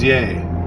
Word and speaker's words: Ye: uh yay for ye is it Yi or yay I think it's yay because that that would rhyme with his actual name um and uh you